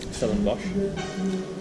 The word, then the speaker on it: Stellenbosch: Stellenbosch.